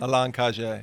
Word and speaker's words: Alain Cage: Or if, like we were saying, if we want to go with the French pronunciation, that'd be Alan Cage. Alain Cage.